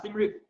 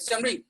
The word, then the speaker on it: Siem Reap: Siem Reap.